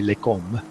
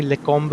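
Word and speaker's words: Lecomte: was kind enough to correct me on my pronunciation for Lecum. and I mentioned earlier on the stream, I have a Belgian friend of mine who's a very close friend, and after you told me that the pronunciation was actually Lecom, I went to my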